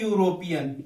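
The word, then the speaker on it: European: तो ध्यान रखना, यदि स्पेस के बाद में ई आ जाए या यू आ जाए, ई आ जाए यू आ जाए, लेकिन उच्चारण क्या हो, यह हो, उच्चारण क्या हो, यह हो, तो किसका प्रयोग करना है, एक का ही प्रयोग होगा, क्योंकि इसको बोलते हैं यूरोपियन।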